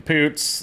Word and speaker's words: Poots: That is starring Brett Goldstein and Mogan Poots.